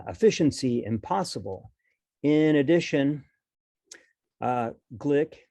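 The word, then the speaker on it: Gleick: impossible in addition uh glick as he pronounces his name in 1987 pointed out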